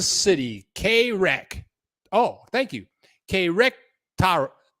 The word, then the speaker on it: Querétaro: Querétaro. Querétaro is how you say that city.